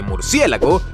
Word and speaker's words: murciélago: más de 20 kilos si pronuncias murciégalo en lugar de murciélago no estás del todo mal de hecho ambas palabras están en el diccionario de la real academia de la lengua española y son dos formas